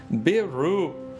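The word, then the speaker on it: ビール: most popular alcoholic drink in japan pronounced beeru was introduced into japan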